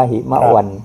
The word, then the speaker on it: หิมวัต: ต่อ ๆ เ การัน แล้ว ก็ อ่าน ว่า หิม วัน ครับ ผม ใน ที่